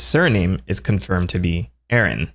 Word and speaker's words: Aran: And though his name is pronounced Arantes, the pronunciation of Samus's surname is confirmed to be Aran. Samus Aran.